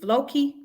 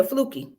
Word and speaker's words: Flukey: going to talk about is it is it floki i thought it was flooky yeah flookie i said it then i say flookie i thought i said fluky stoves yeah i said it right yeah flukey okay well well yeah let's go ahead because